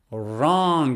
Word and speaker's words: wrong: or another example is wrong wrong you start with the sound er wrong w is silent or another one is